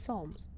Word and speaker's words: Psalms: Psalms palms solves it Psalms write the P is silent Psalms of Merton see